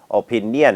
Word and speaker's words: opinion: ให้ ดี นะ ครับ อัน นี้ ไม่ ได้ ออก เสียง ว่า opinion นะ ครับ ไม่ ใช่ เน นะ ครับ อัน นี้ จะ ออก เสียง ว่า ain แล้ว ก็ เย ain นะ ฮะ เหมือน จะ